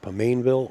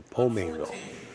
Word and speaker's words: Pomainville: He said you can pronounce it Pomainville or Pomainville.